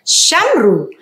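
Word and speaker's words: שמרו: Saya membacanya dengan Shamru, yang dimana Vav ini adalah pembubuhan, dia adalah matres leksionis yang menjadi penanda vokal U, Shamru.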